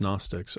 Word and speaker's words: Gnostics: I I think I I believe it's pronounced Gnostics.